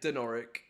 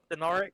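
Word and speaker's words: Dinorwic: Um, Dinoric Quarry, yeah, I'd probably say like Denoric, but Dinoric.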